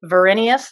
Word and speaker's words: Verinius: the name of your development company is it pronounced virenius is that correct yes it's actually just my